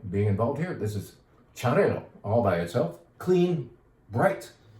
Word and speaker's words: Xarel·lo: Xarel·lo. Xarel·lo is the correct pronunciation of this grape that starts with an X. Correct pronunciation according to the Catalans.